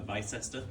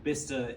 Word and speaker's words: Bicester: For a Brit, it's called Bicester. For Americans, it could become a Bicester. It's a very difficult name to pronounce.